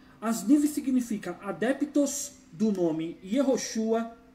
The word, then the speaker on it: Yehoshua: Asniv significa adeptos do nome Yehoshua e variantes.